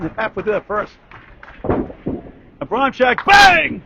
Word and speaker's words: Abramczyk: Abram, then CZYK. Abramczyk is pronounced.